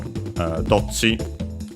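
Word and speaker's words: どっち: But yeah, luckily for dochi, it's still accent on the first syllable.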